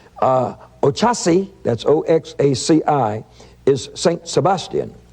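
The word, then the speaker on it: Oxaci: And he says, Ochasi, that's O-X-A-C-I, is St.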